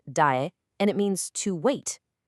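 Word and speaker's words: 待: This one is pronounced dae, and it means to wait.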